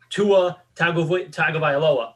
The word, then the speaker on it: Tua Tagovailoa: samoan he came through the trick to samoan last names is there's two letters per s per syllable okay that's usually the trick it's never more than three so it's always like like tua tagovailoa like it's never people always try to stretch it out like americanize it with the longer